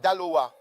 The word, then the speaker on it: Daloa: Le prochain c'est Dala, D A L O A.